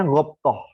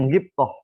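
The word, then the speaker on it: غبطة: Ada istilah namanya hasad, ada istilah namanya ghabthah. Saya ulang lagi, ada istilah namanya hasad, ada istilah namanya ghabthah, atau kata yang bacanya ghibthah.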